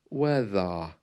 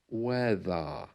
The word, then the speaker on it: weather: it sounds like a weather weather the r is well it's almost gone and not only there